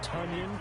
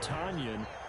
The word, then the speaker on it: Tonyan: to week seven that it is tonion not tonyan and for his part